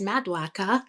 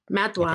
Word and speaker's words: Maduaka: And actually it's Maduaka because I am Nigerian, but we will give the... Wait, can you say it again? Maduaka. So our listeners know, so you know. Maduaka.